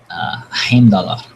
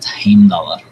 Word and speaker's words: Heimdallr: So, for instance, Heimdallr, the guardian at the Bifrost leading into Asgard, is who the Marvel version of pronunciation, if you're not following me, is Heimdall. But Heimdallr.